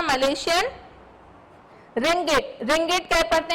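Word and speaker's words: ringgit: उसके बाद Thailand uses the Thai बात, BAST, थाई बात, you will pronounce this and this stands for the capital B। Malaysia uses the Malaysian रिंगिट, रिंगिट कह पढ़ते हैं हम इसे, और रिंगिट की जो सिंबल है वो है RM।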